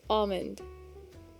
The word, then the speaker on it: almond: is almond almond. I just have an image of Nat in my head every time I hear Aussie. Hi, John. It is right. You don't really pronounce the L.